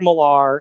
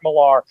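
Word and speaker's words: Millar: the the comic is a thing that like you know it comes from Mark Malar or Mark Miller is how you're supposed to pronounce it I think who you know is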